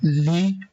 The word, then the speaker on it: لِ: Lam is pronounced with a kasra li.